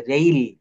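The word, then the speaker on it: rail: আই একসঙ্গে থাকে তো এই আর এর পরে যে এ আই এটার উচ্চারণ এই হবে যেমন রেইল নেইল দেখেন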